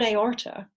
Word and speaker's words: aorta: The word aorta consists of the first syllable A and the next syllable or, and they're separated.